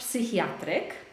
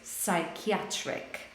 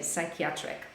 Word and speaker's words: psychiatric: the pronunciation it's not psychiatric but it is psychiatric okay when we have p.s at the beginning with psychology psychiatric psychiatrist and so on we do not pronounce ps we say psychiatric so he asked for